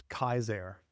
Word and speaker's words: Caesar: The actual way to pronounce that is, in Latin, all your C's are hard C's. So it's Kaiser.